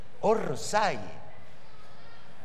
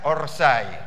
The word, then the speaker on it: offside: En realidad, era una palabra que los ingleses la pronunciaban así, offside. ¿Me ponen la plantilla? ¿Sí? Ahí está. Offside. Y usted dirá, ahora se entiende, ¿no? Offside. Claro, pero los brutos, como no sabían inglés, decían, en vez de decir offside, decían orside.